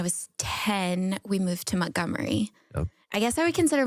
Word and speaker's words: Montgomery: correctly because you're I it's spelled Montgomery but everybody there says Mt I got to say Montgomery they say Gomery or gy let me see Montgomery gy Gomery yeah but I used